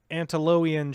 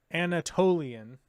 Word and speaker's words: Anatolian: The Antiloian Shepherd. I've got to be saying that wrong. Loin. How do you say that? No. Anatolian.